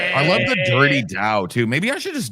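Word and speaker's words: Tao: And the tow is not pronounced toao. It's pronounced dao.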